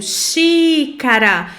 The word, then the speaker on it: xícara: Então ela vai perceber que tem a acentuação, tem o acento agudo. Por quê? Porque na pronúncia ela já percebeu que ela abriu um pouco mais a boquinha, porque é uma vogal aberta, né?